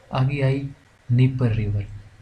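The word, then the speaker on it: Dnieper: आगे आई नीपर river, D silent है इसमें, इसको बोलते हैं नीपर रिवर।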